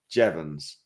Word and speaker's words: Jeavons: moment ago so it's I'm joined by jevans and I think I've pronounced it I've got a thumbs up on